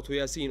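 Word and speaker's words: يس: However, when I pronounce it, what do I say? Yasin.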